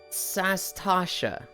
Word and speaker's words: Sastasha: We stopped at Sastasha. I've always said it's Satasha or Sahasa, but it's Sashasa or something. There's an extra S that I've never pronounced that people got on me for yesterday.